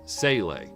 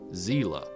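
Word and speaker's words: Seele: In the original English dub of the series, it was pronounced Sele. In the latest English dub of the series, the word is pronounced Zila, which is the German pronunciation since it's a German word.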